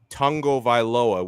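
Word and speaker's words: Tagovailoa: was pronouncing the last name of our quarterback tango viloa which is the correct way to pronounce it and this supposed dolphins fan was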